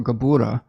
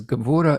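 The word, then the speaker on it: Gevurah: life saphira um or gabora i've heard two different uh pronunciations this is gabora in the world of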